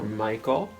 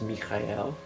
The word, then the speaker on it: Michael: depth of our mind we can invoke meet gaël or michael both are correct you not correct somebody who says Michael they are just as legitimately pronouncing his name as somebody who says me Kayal but all we need